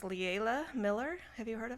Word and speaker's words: Leila: I think it's pronounced liaila Miller have you heard of her or Layla Miller is it l-e-i-l-a yeah I think it's Layla Layla Miller um yeah I